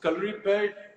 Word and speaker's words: Kalaripayattu: it but you but you tell me so color repaired with i'm so proud of the fact that